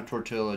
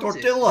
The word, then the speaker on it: tortilla: supposed to pronounce it the way they pronounce tortilla. It. It's a Spanish word. It's not an English word.